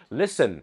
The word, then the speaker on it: Listen: รู้ ใช่ มั้ย ครับ Listen เห็น ม คุณ ไม่ ออก เสียง ตัว T แต่ พอ จะ เป็น